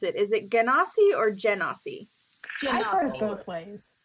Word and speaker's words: Genasi: And Genasi sounds better in the accent, so I'm gonna roll with Genas, with the hard G.